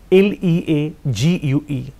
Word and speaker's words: league: league altogether league bananta l-e-a-g-u-e the spelling is l-e-a-g-u-e but the pronunciation is league yes kiba next stop